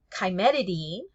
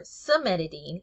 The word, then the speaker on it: cimetidine: So here, cimetidine or cimetidine, either one is correct pronunciation.